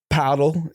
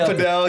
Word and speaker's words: padel: No, but I'm saying our age group, like my friends, they're doing like paddle. How do you say it? Padel.